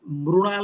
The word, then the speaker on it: मृणाल: सुझाव बिना फीस लिए मृणाल ठाकुर के लिए, ये जी। गुजराती और महाराष्ट्री की टोन में मृणाल लिखती है, MRUNAL, मृणाल। हाँ, और वो लोग हाँ, बोलते भी मृणाल है, मृ, पृथ्वी, बिल्कुल।